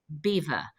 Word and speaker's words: Belvoir: middle of England and in that impeccable French accent he declared Belvoir beautiful view and as we know the English have never been able to pronounce the French and so over the generations it became Beaver which of course in